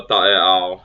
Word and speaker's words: taeao: Okay, so Taeao is tomorrow, sounded Tae'a. Okay, Tae'ao. Almost as the word consists of 4 different syllables.